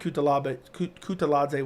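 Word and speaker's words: Kutateladze: I think Kutaladze wins. It's Kutaladze, actually. I think is how you pronounce it.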